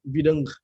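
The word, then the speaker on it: ВДНХ: Nah, itu sebenarnya dibacanya katanya Videngkeh, bahasa Rusia gitu, nggak tahu artinya apa, nanti kita cari.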